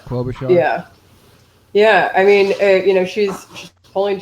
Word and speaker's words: Klobuchar: How do you pronounce her last name? Klobuchar.